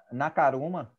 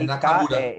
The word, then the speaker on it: Nakamura: você vê Nakaruma, peraí, como é? Nakamura. Hirako Nakaruma, né? Nakaruma. Nakamura. Nakamura, Nakaruma não. Nakamura. Só inverteu a sílaba.